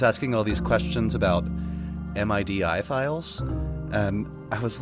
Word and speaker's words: MIDI: stuff gif JPEG MIDI you always pronounce it as a word not as a like an acronym you know or most